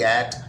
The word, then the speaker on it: ate: बहुत सारे बच्चे इसको एट कहते हैं। वो एक प्रेपोजिशन है एटी एट, लेकिन यहाँ पर इसको एट, जैसे कि 8 नंबर को आप प्रोनाउंस करते हैं।